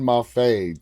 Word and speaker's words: Maffei: who by the way corrected me on the pronunciation of your last name so it it's MAF I'm like okay cool cuz I was like saying in Mafi dami uh Damian Mafi she's like no it's MAF I'm like okay well